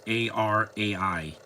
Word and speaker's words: Arai: Yeah, she's the main girl of the movie, Miss Arai. Or Araya. I don't know how to say her last name. It's Arai.